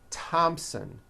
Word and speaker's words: Thompson: spelled with a th they are pronounced as if they were spelled with a normal t t like that and these words are thomas thompson teresa thailand thames like